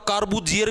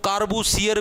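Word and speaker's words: Corbusier: भाई ये क्या था आपका कार्बो जियर भी बोल देते इसको कार्बो सियर भी बोल देते हैं ये हिंदी के अंदर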